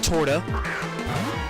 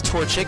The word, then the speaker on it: Torchic: to come back out in a torta or no toto i was looking at the name wrong his torchic and i'm just going